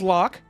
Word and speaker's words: Locke: My name is Locke. It's LOQ. I didn't name it, but that's how it's pronounced.